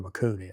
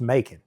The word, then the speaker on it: Macon: I have no clue where McCoon is.